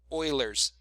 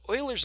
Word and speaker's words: Euler: is log base e e is known as euler's number you might also hear pronounced as euler or euler he's a swedish